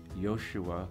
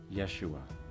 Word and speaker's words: Yeshua: to Jesus of Nazareth his name was Yahshua we commonly pronounce it Yeshua and in Christian theology